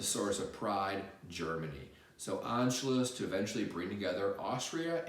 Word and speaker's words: Anschluss: Number four is called Anschluss. Anschluss is spelled A-N-S-C-H-L-U-S-S.